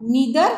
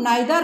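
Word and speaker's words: neither: खाना पसंद करती हूँ, तो उस जगह में क्या होगा नीदर नॉर, या आप लोग नाइदर नॉर भी कह सकते हो, दोनों उच्चारण सही है, नीदर नॉर या नाइदर नॉर।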